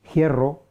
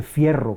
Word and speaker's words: hierro: rasgos antiguos por ejemplo la conservación de alguna manera de la efe inicial en forma de aspiración o sea se se dice hierro no se dice fierro se dice giga lo